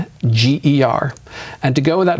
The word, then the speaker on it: Nordlinger: I think there's only basically one way to spell it, but I do spell it for people. It's Nordlinger.